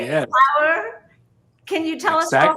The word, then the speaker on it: Pauer: So phonetically, it's an interpretation how the word power, Power, will be written in Spanish.